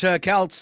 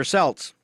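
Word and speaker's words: Celts: you go all right those aren't Kelts they're selts like the Celtics yeah pronounce that correctly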